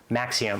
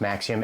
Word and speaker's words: Maxim: Um, so suppressors, also known as silencers, were invented in 1909 by Hyram Maxium. At least I think it's pronounced Maximum.